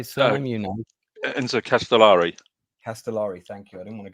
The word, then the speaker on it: Castellari: Castellari.